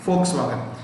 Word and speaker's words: Volkswagen: Volkswagen. V से लिखते हैं, F से उच्चारण करते हैं.